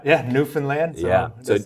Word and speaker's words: Newfoundland: Yeah, Newfoundland. So that's how to pronounce it.